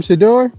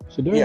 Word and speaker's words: Shedeur: So, u personally, if I'm Shador, that's how you say his name. Shador. Shador.